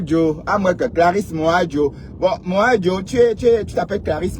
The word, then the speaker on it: Moadjo: C'est en banjounais ton nom, hein, Moadjo. que Clarisse Moadjo. C'est la lionne qui m'a appris enfin à prononcer ton nom parce que j'avais du mal à prononcer ça.